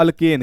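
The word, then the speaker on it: alkene: हम लोग कहते हैं अल्केन। क्या कहते हैं, अल्केन। अगर 2 लाइन दिखे तो इसका नाम पड़ जाएगा अल्कीन। क्या नाम पड़ेगा, अल्कीन। EN लास्ट में आएगा, यानी प्रोनाउंसिएशन में इन आएगा।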